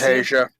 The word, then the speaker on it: Hasia: of this name Nicholas hasia am I pronouncing that correctly it's Asia Asia all right I'm sorry